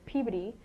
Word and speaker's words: Peabody: And also her family name is Peabody, and that's how you were supposed to say it as well.